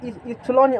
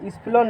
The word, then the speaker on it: epsilon: तो वहाँ पर इप्सिलॉन आया था, क्या आया था इप्सिलॉन। तो इप्सिलॉन नॉट को देख लो, यहाँ से वहाँ जब जाओगे सिग्नल दे, इप्सिलॉन नॉट को कल जो डिस्कस किए थे वो